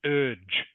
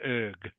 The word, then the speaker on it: urge: It's pronounced urge, Ledukang. U-R-G-E. U-R-G-E. Urge. Yeah, urge. I think you said erg. Urge. Yeah. I said urge. Yeah. It's urge. It's a soft G.